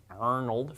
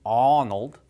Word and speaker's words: Arnold: Schwarzenegger is Arnold alright Arnold no one would say Arnold Arnold from here right how does he say his name Arnold aw aw aw that is the sound that I makes if I